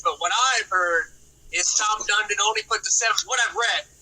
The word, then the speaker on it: Tom Dundon: his first name, but Dundon, or however you pronounce it. What is it? Tom Dundon.